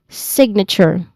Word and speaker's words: signature: So, n and then ends with chore. Chore. There's a ch sound here. This one. This is a ch sound. That one. The one I highlighted. That's a ch sound. All right. So, chore. So, you say it as signature.